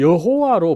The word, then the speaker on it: 여호와: 이 하나님의 이름이 사실은 이 여호와로 불려졌습니다만 그죠? 이 여호와라고 하는 이 이름도 어떻게 됩니까? 그죠? 원 발음이 아닙니다.